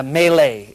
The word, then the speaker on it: melee: melee they call it am I pronouncing that right melee U melee it's French the French invented the